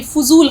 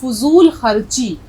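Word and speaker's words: फ़ज़ूल: तो इसी तरह से फजूल खर्ची, फजूल की फिजूल नहीं होता है। फजूल खर्ची, फे और ज़्वाद का उच्चारण सही होना चाहिए।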